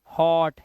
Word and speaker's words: hot: तो H से बना हमारा हा और T से बना हमारा टा, और हमें करना क्या है? ओ के लिए आ का डंडा और चंद्र बिंदु लगता है, तो हॉट।